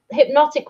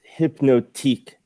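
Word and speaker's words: Hypnotiq: come on Zack that hypnotic was alcoholic so that makes a pod car drunk a lot of it didn't turn out very well I think it's actually pronounced hypno teak notic we drink it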